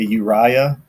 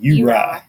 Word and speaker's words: Uriah: because uh you know you say Uriah down here we say you right yeah you right if